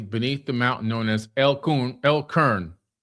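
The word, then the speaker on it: El Qurn: They chose that remote valley beneath the mountain known as Elun L Karn. I think it's Karna. L Q U R N Kurin. El Kurun. That's what that's how you say it.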